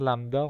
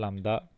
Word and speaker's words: lambda: Par exemple, lambda, ça s'écrit comme ça. Il y a un B muet dans lambda.